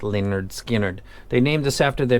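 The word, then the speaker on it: Lynyrd Skynyrd: mest custom represented by leonard skinner pronounced leonard skinnered they named this after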